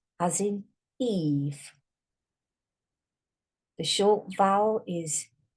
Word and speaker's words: Eve: This does not say Ev, it says Eve. But you can't hear the E.